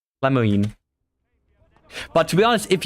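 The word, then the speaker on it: Lemoyne: in Red Redemption 2 which is called Le Moine l e m o y n e and it just can't remind me of that so I immediately went to the pronunciation of how I pronounce l Mo you know Le Moine L Moine but to be honest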